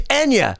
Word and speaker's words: Enya: Are you talking about Enya? Whatever. I don't get anything right. Don't you know? The names of everything's wrong. Yeah. But it's Enya. It's like, but that relaxing, overwhelming, like Enya, Anya, Aerosmith.